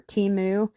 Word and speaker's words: Temu: I use whatever brands are cheapest at the moment, and this is what I found on, I think, Temu last week, or Temu, however it is we're supposed to say it now.